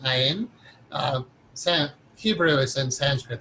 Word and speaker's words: Ayin: don't pronounce it right, it's A-Y-I-N or A-I-N, Ayin.